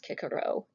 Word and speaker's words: Cicero: two examples cicero or kikero it's how you pronounce it in latin that order dude i was mentioning earlier so his full name is um marcus julius kikero tulius is his family